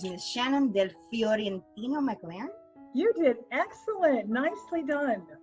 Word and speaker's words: Shannon Del Fiorentino-McLeran: And let me see if I can actually pronounce her name correctly. It's Miss Shannon Del Fiorentino-McLeran.